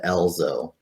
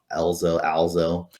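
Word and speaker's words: Ezlo: ends up running into Elzo. I think it's Alzo. Anyways, however you want to pronounce it, ELZO.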